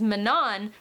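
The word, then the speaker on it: Manon: my friends and meanwhile mannon who I just realized Sarah J mouse pronounces as Manan but will never in a million years ever pronounce it like that so she will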